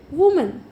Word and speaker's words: women: ये एक की जगह क्या हो जाएगा, E, और इसको कैसे प्रोनाउंस करेंगे, वीमेन। क्या बोलेंगे, वीमेन, वुमन, वीमेन। से विथ मी, वुमन, वीमेन।